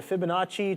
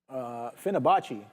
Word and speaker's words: Fibonacci: the chat saying Oscar reversal, and then the Fibonacci trader saying shorting HIMS. Great short on HIMS. I just pulled up that chart Fibonacci and Finabachi.